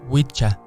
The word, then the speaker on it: wicca: predecir la tercera es la inglesa wicca que se pronuncia witcha utilizada para denominar al